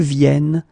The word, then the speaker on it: viennent: and the last one, because you've got this double N here, you need to pronounce this E like E, E.